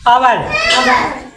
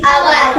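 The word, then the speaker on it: hour: यू आर का पढ़ी आवर एच ओ यू आर का पढ़वी आवर उ है नहीं वोवेल है तो एच का साइलेंट अब देखो एच एच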